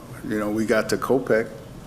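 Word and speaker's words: Kopech: you know uh you know we got to kopec kopek that's how you say his name yeah i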